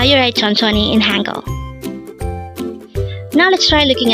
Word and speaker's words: 천천히: hangle word number 320 tononi again it's ton CH this pronounced as a three syllable word the first syllable is Chon the second syllable is also Chon and the third syllable is he pronounce it with me